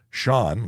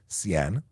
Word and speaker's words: Sean: some very interesting pronunciations Sean like Sean Connery the legend should be easy however I get CN I get seen um yeah what else